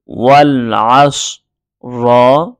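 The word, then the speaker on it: والعصر: ওয়াও লাম জবর ওয়াল, আইন সদ জবর আস, ওয়াল আস, র জের রি, ওয়াল আস রি, এইভাবে বানান করব।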